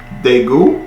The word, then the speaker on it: Daegu: episodes today yeah episode five meet me in daegu is how you say it and then episode